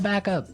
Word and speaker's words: back up: to point out that here the pronunciation and stress of this phrase is really important. Hey. Yes. Yes. You have to say backup. Backup. Backup. Yeah. So, both words are stressed at about the same level.